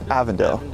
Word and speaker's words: Avondale: right avondale all right that's the print proper pronunciation avondale we got we got the original h trucks